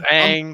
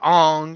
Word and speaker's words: Aang: It was Aang, but in the movie it was Ong, and it was just like I'm cool if you do like subtle changes.